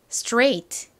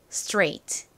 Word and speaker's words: straight: 체중 역시라고 합니다 중 오늘의 마지막 단어이 단어는 발음이 어떻게 되나요 straight 이죠 straight 이중 모음 AI는 에서와 마찬가지로 a 소리가 나죠